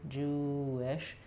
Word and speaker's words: Jewish: the unrounded I sound, I'm going to have a little W connecting them. So it's not the same as if I'm saying the full word wish with a strong W, but Jewish.